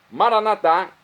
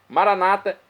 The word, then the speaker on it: Maranatá: Maranatá é do dialeto de Jesus, o aramaico, pronúncia que nós falamos, nós católicos. Maranata é a pronúncia dos nossos irmãos das comunidades evangélicas ou protestantes, nossos irmãos separados, que se separaram da Igreja Católica. Mas não importa a pronúncia, o significado é o mesmo, é a parousia.